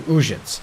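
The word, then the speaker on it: Uzhitz: A little bird told me she incited some Uzhets women to witchery. He's pronouncing it correctly. Uzhets.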